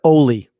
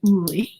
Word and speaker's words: Uli: Say thank you to Oli. Oh no, it's Yuli. It's Yuli. Oh, I thought it was Oli. Oh, no, I'm sorry. It's actually Uli. Her name is pronounced Uli.